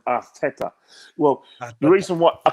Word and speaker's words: Arteta: I was told that this is how you pronounce his name, Arteta.